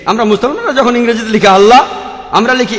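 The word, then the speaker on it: الله: এটা তাদের ভাষা একইভাবে আমরা জানি যে ঠিকভাবে উচ্চারণ করলে আমরা বলবো আল্লাহ তারা বলে এলা সমস্যা নেই তবে সঠিক উচ্চারণ হলো আল্লাহ পরে যখন রেভেল স্কটফিল্ড বুঝতে পারলেন যে তিনি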